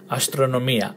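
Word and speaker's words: αστρονομία: Astronomia. Astronomia. Okay, hope you got that. Astronomia. Emphasis on the E, the last E.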